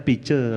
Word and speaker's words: Pice: Sebenarnya kalau orang Bali kan bacanya Pice, rezeki ya.